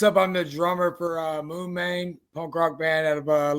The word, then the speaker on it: Moon Mane: We got the Moon Main. See, I actually knew how to say it. Oh yeah, Moon Main.